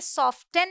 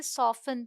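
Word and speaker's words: soften: भी ध्यान देना होगा कि टी साइलेंट है। ठीक है? तो हम इसे सॉफ्टन नहीं पढ़ते। हम इसे सॉफ्टन पढ़ते हैं।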